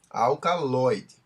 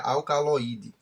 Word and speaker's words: alcaloide: No novo modelo, se escreve dessa forma, sem um acento agudo no O, mas continua se pronunciando da mesma forma. Alcaloide, certo?